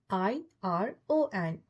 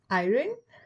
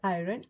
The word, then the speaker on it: iron: So next word is I-R-O-N. Iron? No. It's not iron. R is silent.